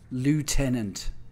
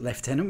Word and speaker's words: Lieutenant: Soldier the LI iant leftenant Lieutenant don't pronounce it leftenant we're not Americans cool the lastic man